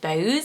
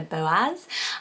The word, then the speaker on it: Boaz: such a great one i thought originally was just bose like a one syllable but it is the boaz um and that's one